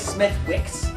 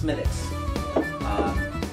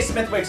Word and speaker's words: Smithwick's: Smithwick's. So Yeah. it says Smithwick's, but it's pronounced Smithwick's. Or you can say Smithwick's if you want. It doesn't really matter.